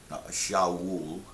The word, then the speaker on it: Shaul: Shaul, as his name is pronounced in Hebrew, and even that is